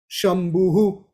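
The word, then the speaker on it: शम्भुः: vowels all very short shambuhu which is a name for lord shiva okay so this is a little example of the vissargas how we pronounce them yoriya like that now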